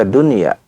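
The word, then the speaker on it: دنيا: Dunia dibaca dunya ya bunyan dibaca bunyan.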